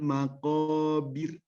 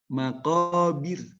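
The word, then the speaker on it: المقابر: makobir nah gitu ya itu pengucapannya tipis jadi kita harus konsisten karena roh itu punya sifat sendiri kalau betapa eh rohnya itu berarti kalau birdisini posisi harus tarqiq harus merokok tetap istilahnya atau tarqiq tipis itu deh lengket-lengket baik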